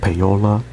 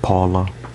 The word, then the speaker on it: Paola: Now, is this pronounced PAOLA, not Paula? PAOLA. So I guess it's PAOLA. Okay, so let's just go with PAOLA, okay?